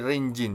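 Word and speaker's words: 隣人: Tetapi jika ditambahi dengan kanjinya orang ya atau hito ya kan. Menjadi rinjin ya. Cara bacanya itu menjadi rinjin ya.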